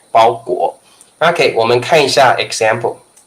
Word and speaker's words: 包裹: ok let's take a LOOKAT 19 okay 第19个ok 包裹包裹 okay goal and the pronunciation is like goal okay the pronunciation is